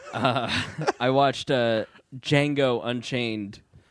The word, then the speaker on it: Django: It's not Django. The D is silent. Oh, excuse me. That's what she said. I watched Django Unchained.